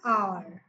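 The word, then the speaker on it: hour: sound of these wubbles for example R an R because it sound a r Onre person so here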